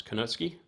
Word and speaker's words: Konosuke: So on the Hinkles, your standard European chef's knife, compared to this Konosuke, or Konuski, I think that's how you pronounce it now. I think I was saying it wrong. It's Konuski.